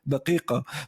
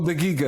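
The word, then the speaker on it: دقيقة: Go qaf, or like when you say the word for minute, daqiqa. It just sounds funny if you're not used to saying it. Do you actually pronounce it daqiqa in Jordanian? No, daya or daqiqa. Oh, dia. We say daqiqa. Daqiqa in Iraqi, right? Yeah, we actually say daqiqa.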